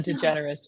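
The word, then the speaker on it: DeGeneres: last name right that's why I hesitated Ellen degenerous yeah yeah okay I said it right I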